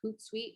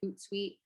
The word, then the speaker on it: Hootsuite: b-u-f-f-e-r there's also a hootsuite which is spelled h-o-o-t and then sweet as in like a guest suite like at a hotel or like a suite at a hotel so um s-u-i-t-e hootsuite uh there's also sprout